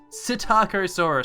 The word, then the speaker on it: Psittacosaurus: So first off, the Psittacosaurus. So just like the Pteranodon, the P is silent.